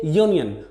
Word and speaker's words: union: which is a vowel but when we pronounce these word we say union the initial sound is your like is you that's why we can't